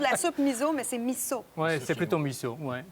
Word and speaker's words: miso: On prononce miso soup, miso, c'est plutôt miso.